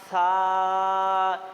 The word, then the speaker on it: সা: বা তা সা এখানে আসুন ভাইয়েরা। এই যে সা হচ্ছে সিটি হবে না। হালকাও সিটি হবে না। সার উচ্চারণ হচ্ছে শুধু বাতাস বেড়াবে মুখ থেকে। কিন্তু সিটি একটুও হবে না।